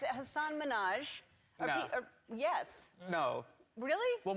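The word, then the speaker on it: Hasan Minhaj: Good, please, because everyone that says your name says Hassan Minhaj. Yeah, but the real way you pronounce it, and this is a big deal because my parents are here, it's Hassan Minhaj.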